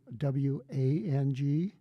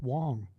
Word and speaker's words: Wang: you see the word w a n g we pronounce it in the United States they say Wang and not in my dialect it's Wong okay and it's not